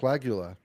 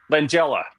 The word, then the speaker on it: Langella: Frank Lagula. Yeah. Langula. Yes. Langella.